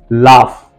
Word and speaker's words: laugh: लाफ, देखिए जरा, LAUGH, लाफ, इसमें लास्ट में GH दिया गया, इसको हम घर नहीं पढ़ रहे, इसको फ पढ़ रहे, लाफ।